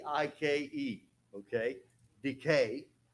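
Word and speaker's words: δίκη: d i ke okay Decay Decay like tooth decay that's how you pronounce it but Decay okay diaconos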